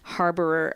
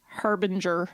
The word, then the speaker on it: harbinger: The creamy machine sort of is the harborer of spring, and once that goes in, Could I just make a little grammatical correction there? Yeah. It's not a harborer. Harboring? Harbinger.